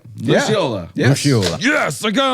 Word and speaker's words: Lucciola: Luciola.